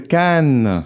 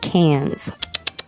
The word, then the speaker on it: Cannes: A lot of times we pronounce it cans. You don't say that. How do you say in French? Can. Can. That's right. And you say can because you don't pronounce the s at the end.